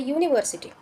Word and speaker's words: university: Okay, like you can see the university. Okay, university, the pronunciation of university starts with a consonant, that is y.